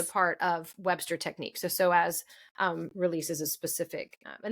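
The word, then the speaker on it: psoas: soaz so um and to be clear soas is spelled PS O A if you are wanting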